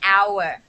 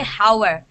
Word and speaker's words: hour: there in an hour you don't say hauer the h is silent so the first letter